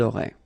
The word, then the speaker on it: auraient: And then look, if you've got A-I-E-N-T, then phonetically it goes like aurait.